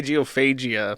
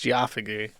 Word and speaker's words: geophagy: Geophagy, I think that's how you say it. I want to say geophagia, but it's geophagy.